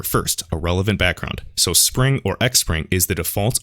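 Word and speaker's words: Xpring: Almost all Springs, and I'm pronouncing it Spring, that's the correct pronunciation, it doesn't really matter.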